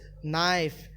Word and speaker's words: knife: Now, K here is often silent, particularly when it appears at the beginning of the word before an N. So, example is knife, no, knee, knock, and knowledge.